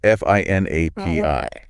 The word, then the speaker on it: finAPI: It's spelled FINAPI. Right. But it's pronounced finAPI as one word.